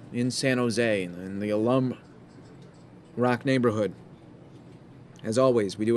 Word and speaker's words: Alum Rock: just reminding me that it is pronounced Alum Rock thank you I do